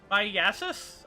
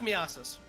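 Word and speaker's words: myiasis: But Mark Myasis? I have no idea how to pronounce some disease names. Oh, no. Leave it to a med tech. We got Header HPV. Oh, that's Miasis.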